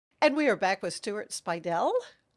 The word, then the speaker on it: Speidel: And we are back with Stuart Speidel.